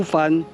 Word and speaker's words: 蕃: 者甚蕃 ”，这个 “ 繁 ” 读 “ 繁 ” 是指繁多的意思。